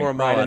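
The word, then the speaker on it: Owusu-Koramoah: I can't pronounce Owusu Koromoa, Notre Dame. Koromoa, that's right.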